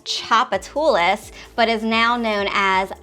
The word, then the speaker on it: Tchoupitoulas: And lots of people who are not local and are not familiar with how to pronounce the word, maybe we can put it across the bottom here, Tchoupitoulas.